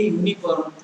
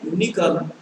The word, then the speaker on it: unicorn: I am wearing a unicorn. Have you seen a unicorn? So here you may be astonished. We have used you in both the cases. Unicorn the first letter U, and unicorn the first letter is also U.